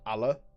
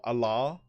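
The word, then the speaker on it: Allar: It's spelt A-L-L-A-R, but because I'm British, I pronounce that Allah, not Allah.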